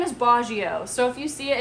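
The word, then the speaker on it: Baggio: I met boggio so my husband's name is bajio so if you see it it's b-a-g-g-i-o I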